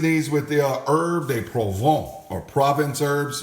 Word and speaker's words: Provence: Anyway, it looks like Provence, but I think it's French, so it's pronounced Provence. Anyway, you always sound fancy when you speak in foreign languages when you're cooking, all right?